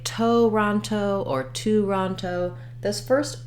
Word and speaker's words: Toronto: today tomorrow you can even think of it just as having almost no vowel Toronto today because that vowel is so reduced to that schwa Toronto finally my last O is a true o sound um and so even though we have three letter O's we have a schwa uh ah and O for Toronto now when it comes